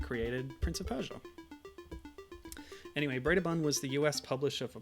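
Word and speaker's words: Brøderbund: Okay, so Gibbon says Bredabund, which I believe is how you pronounce the O with a line through it in the name of that particular American software house.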